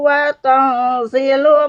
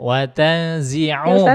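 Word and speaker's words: وتنزع: Qulillahumma malikal mulki tu'til mulka man tasha'u wa tanzilu mulka mimman tasha'u wa tanzi'u bukan wa tanzilu, enggak ada lamnya sini.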